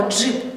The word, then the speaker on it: джип: Ми кажемо, що перший звук у нас не «д», а «дж», тому що вимовляється він злитно як один звук.